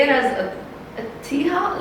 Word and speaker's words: Atiha: but mine is just a thea. You can aia. Yeah, you can pick. I guess I think it's meant to be pronounced aha because it's originally an Arabic name.